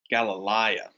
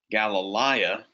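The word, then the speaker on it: Γαλιλαία: the same as missionary galilea galilea means galilee you'll see the diphthong here it's pronounced like the AI and I'll graph a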